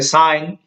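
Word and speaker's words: sign: जैसे साइन, साइन यहाँ पर देखो, यहाँ जी क्या रहा, साइलेंट रहा।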